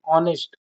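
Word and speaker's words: honest: नेस्ट एच H word H word नहीं ऑनेस्ट ऑनेस्ट कहते उसको ऑनेस्ट तो वहां प क्या यूज हो रहा है ओ का यूज हो रहा है ओ ऑनेस्ट यहां पर लगेगा एंड नेस्ट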